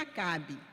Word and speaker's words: Acabe: Eh, para quem não tá acompanhando com a Bíblia, Acabe é A C B mudo. E pronuncia Acabe.